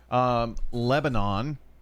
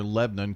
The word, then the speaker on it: Lebanon: Well, and the reason is the country is pronounced Lebanon, and they're spelled the same. The country that it's named after is pronounced Lebanon. We just call it Lebanon.